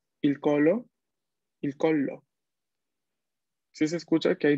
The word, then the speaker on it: collo: Capaz se escucha mínimamente esta doble L cuando se pronuncia, pero hay que prestarle atención, ¿ok? Una cosa es decir, por ejemplo, a ver, no existe, pero digamos, il colo. Otra cosa es decir, il collo.